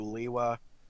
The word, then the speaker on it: Lewa: No, you got it right the first time. Lewa.